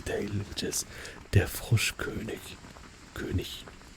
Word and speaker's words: König: König. I think like the more like proper way to say König is like king. Is König. König. That sounds really fancy, right?